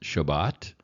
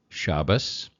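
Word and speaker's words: שבת: you can hear U the word pronounced Shabbat or shabas or Sabbath Sabbath uh the Sabbath uses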